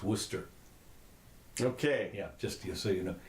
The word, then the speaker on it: Worcester: in case you're interested Worchester is pronounce Worcester okay just so you